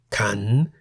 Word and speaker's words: ขัน: A live syllable beginning with a high-class consonant is in the rising tone. For example, ka, meaning leg, and kan, meaning bowl.